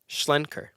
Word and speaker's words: Schlenker: Schlenker.